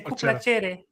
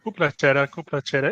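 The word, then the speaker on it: cu plăcere: And just the way you pronounce cu placere, different, like I would say cu placere is kind of different, but yeah, interesting. Cu placere. It's actually both. Doesn't matter. Cu placere. Yeah, again, it's an accent difference, but it's all the same.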